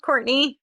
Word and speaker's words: Courtenay: I spell my name like Cortine. So, it is pronounced Courtney, but it's spelled Cortine.